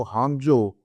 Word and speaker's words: Hangzhou: Intelligence company है जो हांगजो, HANGZHOU इसको हम स्पेल करते हैं और हांगजो लिखते हैं इंग्लिश में, लेकिन प्रोनाउंस हांगजो करते हैं।